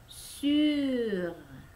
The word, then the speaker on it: sûr: Tapi lidah mengatakan i, ya, jadi i, i, jadi dibacanya sur, sur, ya, r-nya tidak kentara, ya, tidak terlalu jelas, biasanya mereka r, ya, r, r-nya di tenggorokan, bukan r, tidak bergetar, itu mereka orang Perancis.